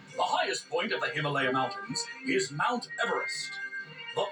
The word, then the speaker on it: Himalaya: Way I figure it, we're somewhere in the Himalayas mountains. That's pronounced Himalaya.